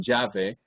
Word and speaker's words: Yahvé: W, H, que nosotros en español traducimos o pronunciamos Jehová, algunos dicen Yahvé, es el nombre de Dios.